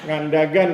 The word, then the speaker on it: Ngandagan: Ngandagan bacanya Mbak. Ngandagan di AN.